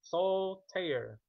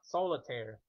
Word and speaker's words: Soul Tear: Two words, two syllable. Soul tear. Soul tear. It is not solitire. Not three syllable, three words. The two sounding two syllables. Soul tear. Remove the I. So it's soul tear.